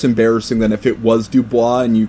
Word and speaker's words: Du Bois: yeah yeah one of them was a w.e.b du bois another boston staple sorry say that again w.e.b du bois i took a class and that's how it's pronounced that's how it's pronounced really it's pronounced to boys yes that's all right i was going to